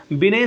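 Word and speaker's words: Binet: बिने, ठीक है, बिने का नाम एक्चुअली थोड़ा सा जो है प्रोनाउंसिएशन आपको दिक्कत आ सकती है, बिने सही होगा।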